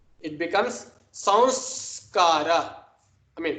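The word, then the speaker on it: saṃskāra: It becomes sanskara. I mean, samskara. Sanskara. Right? No one pronounces it like that, but just for emphasis in the beginning stage, let me just put that extra emphasis.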